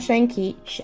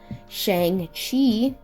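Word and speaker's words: Shang-Chi: so here we have shanky sorry oh my god i butchered that completely shang chi or shang qi are there one um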